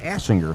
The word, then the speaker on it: Asinger: It's Ava Asinger, so we won't make that mistake again. I think I pronounced that with a long A previously.